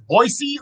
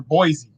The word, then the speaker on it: Boise: here all right so the proper pronunciation is boise or boise boise boise that's what i thought